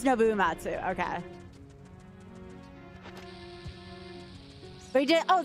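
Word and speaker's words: Uematsu: Is it Noitsu or something like that? I'm very bad with pronunciations. Yeah, it is Nouatsu.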